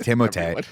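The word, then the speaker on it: Timothée: zende dea's name which everyone still pronounces incorrectly it's timot but he says just call me Timothy because that's how everyone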